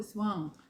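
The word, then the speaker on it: soin: 이게 이제 소인으로 읽지 마시고 스왕. 그래서 이제 요거 이제 네이버에 치시면 거기 이렇게 딱 이렇게 그 발음 나오거든요. 불어로 스왕 해서 저 발음 안 좋은데 불어로 배려란 뜻이에요. 배려.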